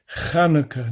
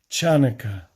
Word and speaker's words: Chanukkah: The Hebrew word is actually pronounced with a guttural ch sound. Chanukah, not Chanukah.